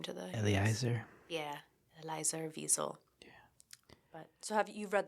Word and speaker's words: Wiesel: yes, According to this, the correct pronunciation of his last name is Wiesel. Wiesel. I almost wondered if it was a V. Yeah, Wiesel.